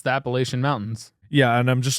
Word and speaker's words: Appalachian: That said, we in the eastern United States pronounce the range of mountains that run from Maine to Alabama, the Appalachin Mountains. If we hear you pronounce it Appalachian, we'll throw an apple at you.